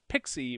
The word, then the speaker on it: PXE: must be pxe enabled that's pronounced pixie by the way and pixie is basically